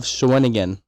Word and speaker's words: Shawinigan: we had a French coach off of Shawinigan.